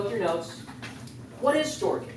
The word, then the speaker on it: storge: Storge. Wow. Oh, Yeah. It is that.